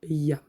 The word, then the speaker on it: YAM: Alors, il faut savoir que le mantra qui se rapporte au chakra du cœur, c'est le mantra YAM. Et on va le prononcer comme ça. Yam.